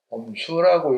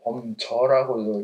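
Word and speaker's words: 范雎: 두삼은 그래서 소왕은 얻다, 범수라고 읽기도 하고 범저라고도 읽습니다.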